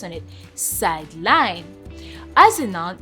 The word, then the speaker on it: sideline: So sideline as a noun can sound as sideline. As you can see, sideline. So basically the first syllable which is side the side there has the stress. But as a verb, it's sideline.